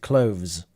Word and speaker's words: clothes: the impression that natives usually in the plural like clothes skip the th and pronounce it with a zed clothes yeah I I would